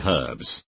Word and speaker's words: herbs: a lot easier mayo not pronouncing the h in herbs spray on cheese i